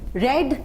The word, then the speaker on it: read: तो आई हैड रेड the book, sorry, I हैड रेड the book, यानी हम spelling वो ही रहेगी, प्रोनाउंसिएशन चेंज हो जाएगा। रीड की जगह क्या हो जाएगा?